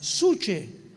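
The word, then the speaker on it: psuche: Cuando abrió el 5.º sello, vi bajo el altar, dice el apóstol Juan, las almas, las suche. En el griego alma es suche, para que lo apuntes ahí, P-S-U-C-H-A, y de ahí viene la palabra psique.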